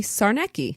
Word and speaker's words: Czarnecki: Kaylin wrote in that the way to pronounce her name would be Czarnecki.